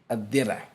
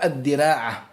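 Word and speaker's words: الدرع: On dit al-dir' dans la langue arabe. Et on prononce aussi dans la langue arabe al-dira'a. Al-dira'atu, ça veut dire al-dir'.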